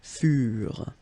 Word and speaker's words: furent: Keep in mind that ENT, you know, the ending for the plural form is never pronounced, so furent. Okay, ils furent, elles furent.